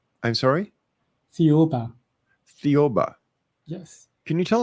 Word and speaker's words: Thiaoouba: Now, there's a prophecy that you want to talk about and I cannot figure out how to pronounce it. So, I Thiaoouba. I'm sorry? Thiaoouba.